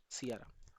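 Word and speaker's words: Ceará: First है किियारा जिससे होगा हमारा सियारा। प्रोनाउंसिएशन आप सेम कर सकते हो। स्पेलिंग अलग है।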